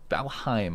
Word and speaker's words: Valheim: update that slightly falheen valheim i've told this rhymes with haim not him so we want someone